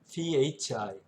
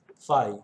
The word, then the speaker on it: phi: phi, phi. 우리말에 없는 F 발음이 들어가는 그리스 문자입니다. phi라고 하는데 이 phi가 크면 클수록 자석의 성질이 커집니다.